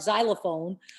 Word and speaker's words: xylophone: Even though if you were to look at the word like xylophone, starts with an X, you'd never think that Z is how you would say it.